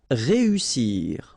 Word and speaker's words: réussir: Réussir. Okay, so here, vowel, second vowel here, and then double S. So in that case, you've got to pronounce it like a real strong S.